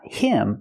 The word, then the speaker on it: him: We hear the pronunciation, not him, but gave him. Gave him. The H in him is silent because the word's not stressed.